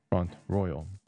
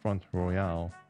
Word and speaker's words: Front Royal: canada i'm canadian and i was kind of influenced by the use of french language in this country the official languages are